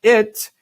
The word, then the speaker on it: it: Se você pensar, quando você fala it, que o som está saindo de cima de sua cabeça, aqui atrás. It. Fica mais fácil pronunciar.